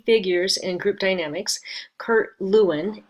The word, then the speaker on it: Lewin: So some key figures in group dynamics: Kurt Lewin, Lewin, which is technically pronounced Kurt Leuven, is often he coined